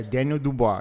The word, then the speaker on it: Daniel Dubois: Yeah, Daniel Dubois.